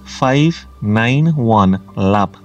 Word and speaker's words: 591 Lab: It's pronounced as 591 Lab.